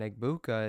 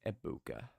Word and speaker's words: Egbuka: receptions record I think I keep saying it wrong it's ibuka I think it's abuka the g is silent good drive for the